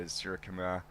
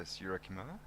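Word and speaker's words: Suryakumar: Never know with the RY how many syllables. Sky's easy. Sky's easy to say. Sky, yep. How many syllables you put in there. And that one, just a forward defensive, back to the bowler and a run. You almost have to add an I between the R and the Y, so Surya.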